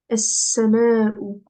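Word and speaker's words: السماء: Et s'il y a une shedda après, on ne le prononce pas. Du coup, là, je vais dire en-nejmu, es-sama'u.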